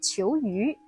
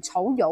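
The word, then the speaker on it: 仇由: 虬尤國，普通話讀草魚，但係唔好讀成草友喎。呢一個係國名或者係姓氏嘅特定讀法。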